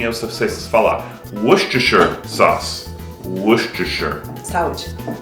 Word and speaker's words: Worcestershire: Ok, olha como esse molho se escreve e como se pronuncia. É Worcestershire sauce. Nem eu sei falar. Worcestershire sauce. Worcestershire.